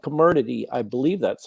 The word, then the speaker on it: Comirnaty: So the truth is that it's called Comirnaty, I believe that's how it's pronounced, is the BioNTech product.